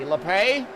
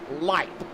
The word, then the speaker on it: Lipe: Well, you know how I have been calling Michael the 93. LePay? His last name is actually pronounced Lipe.